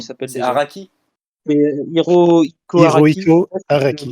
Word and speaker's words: Hirohiko Araki: C'est Hirohiko Araki, Hirohiko je sais pas si je le Araki.